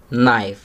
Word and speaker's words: knife: नी, नो, Not, knowledge, knife. आपने देखा इन सभी वर्ड्स में के साइलेंट है.